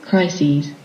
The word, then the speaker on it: crises: crisis yes that's one when there are many plural and we will pronounce it as it crises crises it goes on like that